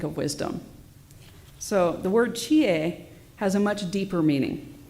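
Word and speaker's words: 智: The first one, pronounced chi in this case, is made up of 2 components.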